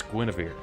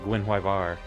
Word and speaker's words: Gwynwyver: Until I realized, oh wait, that's Welsh. That's Guinevere. But it looks like Gwynwyvar.